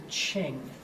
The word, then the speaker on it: Qing: and then the very last one is the ching q-i-n-g in 1911 the last Dynasty that Qing